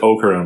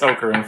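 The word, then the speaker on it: Okarun: That you pronounce it Ocaroon by the way. Yeah. Okaroon, right? And we've we've always said that. U And uh it's Ocaroon for sure.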